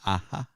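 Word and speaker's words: ʻaʻā: An aha. It's spelled AA.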